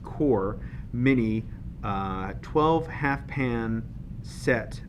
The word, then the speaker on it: QoR: be unboxing and swatching the golden core pronounced core mini 12 half pan